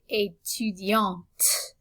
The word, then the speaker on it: étudiante: But if I'm describing myself as female, then I'm going to say je suis étudiante. So I'm going to add an E to the end and I'm going to pronounce that T.